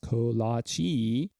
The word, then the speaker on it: kolache: of dough and a plum the word kolache pronounced kolache and also spelled Colossae collage or clock a